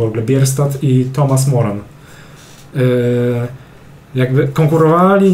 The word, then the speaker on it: Bierstadt: Tak słyszałem, że tak się czyta jego nazwisko. Albert Bierstadt.